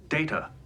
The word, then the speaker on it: Data: My name it is pronounced data.